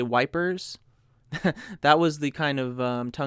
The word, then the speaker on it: Ypres: I keep wanting to say Ypres, but it's really pronounced Ypres. That's how my Flemish family pronounced it. Ypres. That's the Flemish way of pronouncing Ypres.